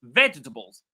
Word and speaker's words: vegetables: So you will notice that the ve takes all the power, all the energy, all the value, all the weight of the word.